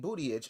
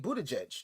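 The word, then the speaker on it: Buttigieg: could have won because Pete Bootyage, I'm sorry, I keep saying his name wrong. Pete Booty Scratch. Pete Pete Buddhajge, there it is.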